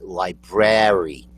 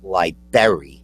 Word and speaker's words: library: you went to the library which is the same thing there's there's a Nar in there that you have to there's two RS is b r a r y Library not Liber you know like not